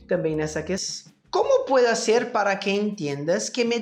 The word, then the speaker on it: hacer: A primeira delas é a palavra hacer, no qual nós temos a pronúncia da letra H, que em espanhol simplesmente não é falada, né?